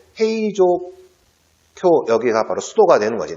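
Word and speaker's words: 平城京: 일본의 수소가 도쿄 잖아 이걸 보호 q 일본식 발음으로 그래서 행 위한 행위 조표 헤이 조 쿄 여기가 바로 수로가 되는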